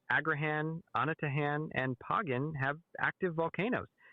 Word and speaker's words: Anatahan: It's pronounced Agraan and Anatahan.